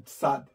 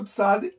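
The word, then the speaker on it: צ: é um pouquinho diferente o tsad tá vendo o tsad está na posição de número 90 e ela representa a letra t e s t e s o som de TS se tivesse um um um um sinal massorético para tá Seria T tivesse um sinal massorético tere seria T então é um som de t e s Ok posição de número 90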